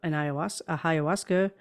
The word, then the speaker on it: ayahuasca: I think I don't know if I want to go as far as it's like a ayahuasca. How's that pronounced?